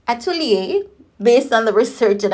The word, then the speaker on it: atelier: opposite than what we often think so it's pronounced Atelier based on the research that I did so